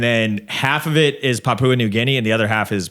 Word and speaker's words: Papua New Guinea: it's Papa New Guinea is that how you say it I don't know I've been saying it wrong man I have no idea Papua New Guinea oh okay New Guinea do you really think it's Papa I don't know so